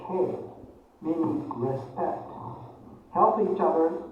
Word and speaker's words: 敬: The second character is pronounced as kei, meaning respect.